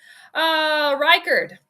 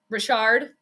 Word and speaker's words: Reichard: It's a silent H, like in French. Maybe it is French then. Because in France, you don't pronounce H's either.